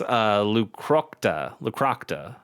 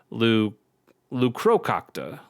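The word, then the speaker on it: Leucrocota: Ravenous Ravenous Lucrocta. I'm gonna say Lucrocta. No, it's not. It's not that. It's Ravenous Lucrococta. Lucocrocta. Yeah, there's another syllable in there.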